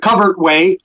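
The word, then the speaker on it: covert way: it please yes the covered way it's pronounced cover even though it looks like overt and covert is a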